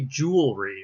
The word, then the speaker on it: jewelry: students and others who are learning english the pronunciation is actually jewelry right jewelry so and and the spelling is